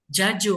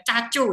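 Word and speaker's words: 자주: Jaju. Memang dia J. Jadi jangan baca cacu. Itu nggak ada yang baca cacu.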